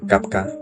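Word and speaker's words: kavka: de palabras, puesto que Cuervo se pronuncia Kafka y bastante similar al apellido de la familia, Kafka.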